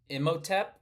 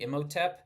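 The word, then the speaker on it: Imhotep: First, this first one I don't even know how to pronounce. Immoteep. I m h o t e p. Ioteep.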